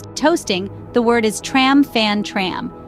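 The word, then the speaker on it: trăm phần trăm: when it comes to toasting the word is tram fan tram pronounced tram from tram which means 100% it's customary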